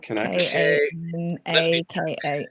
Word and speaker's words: Kanaka: do you spell it k a n a k a s it's like bananas but with k with some K in